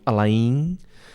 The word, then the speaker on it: Alain: It's a French name. Okay. Oh, yeah. I was like, I know I'm not saying that right. It's funny because in Cuba, my name pronounced Alain. Mm-hmm. You are a farmer. Uh-huh. You live in the countryside. You call me Alain. But the French name is Alain. So, and people call me here Alan.